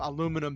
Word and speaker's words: aluminum: i actually saw a video that was outlining the aluminium aluminum thing right and it has apparently in official releases it has been pronounced both ways i think it i